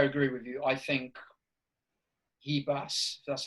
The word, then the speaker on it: Ribas: think is it pronounced Ribas or? Well, in Portuguese they pronounce R's as H's. Oh, okay. So it's Ribas. Ribas.